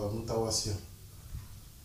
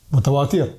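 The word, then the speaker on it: متواتر: Bon, après, je prononce mal en arabe. C'est. Mutawasir. Mutawatir?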